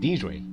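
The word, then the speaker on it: Deirdre: Wait, how do you pronounce it again? Deidre.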